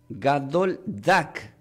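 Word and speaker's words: גדול דג: La palabra, quiero que tomen nota, gran pez del hebreo, se pronuncia como Gadol Dak.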